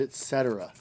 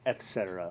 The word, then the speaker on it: etc.: Give details like what specific places, buildings, obstacles, and etc. Also, it's etc. with a T, not etc. with an X. There's no such thing. You shouldn't be pronouncing it that way.